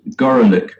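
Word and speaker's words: Gorelick: the name of jamie gorlick who prefers to have her name pronounced gorillic to avoid the obvious unfortunate metaphor but he goes up to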